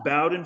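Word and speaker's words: Bowden: I'm just kidding so so um it is pronounced Bowen Francis he is named after the college football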